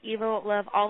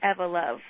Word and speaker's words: EvoLove: make a slight correction we do get called evil of all the time and i will answer to it but we pronounce it ever love like evolution okay so that's it i